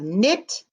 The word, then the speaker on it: knit: out knife knife knife so we have knit and knife they both have the same beginning sounds with the diagraph k n and the k is silent all right 21.